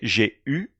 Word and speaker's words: eu: J'avais, j'ai eu, j'ai, j'aurais. I often hear the mistake here. People are not certain how to pronounce U. J'ai eu.